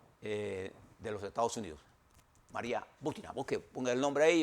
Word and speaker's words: Butina: Talk, entrevistó a María Butina, lleva acento en la U, una mujer que pertenece